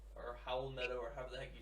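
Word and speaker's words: Raúl Neto: Raul Neto or something like that. I think it's. I think it's Howell Neto. It Is it sounds Howell? like an H.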